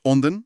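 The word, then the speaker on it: 隠田: Pronuncia-se Onden, certo?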